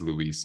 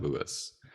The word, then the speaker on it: Luis: First thing is, my name is Luis, not Lewis.